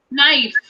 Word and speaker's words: knife: Yes, so let's read out these words with silent K letters. Okay? Yes, ma'am. Knee, Ni. new, New. knickers, Knickers. knife.